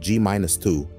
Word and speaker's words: g-2: this experiment known as muong G2 pronounced gus2 measured the anomalous Magnetic